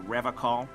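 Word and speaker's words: Revachol: I've been tempted on occasion, but someone has to stay strong for Revocol. He pronounces Revocol with a hard K, unlike other people.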